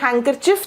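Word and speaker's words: handkerchief: ये हैंकरचीफ था, D silent था, ये बॉम्ब था।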